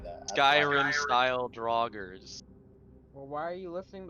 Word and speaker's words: Draugr: I thought it was It's pronounced Draugr. Draugr. No, Duragar are like dark dwarves. Yeah. That's what I was told. I asked earlier. Someone said No, I Dura- said Draugr. Ah.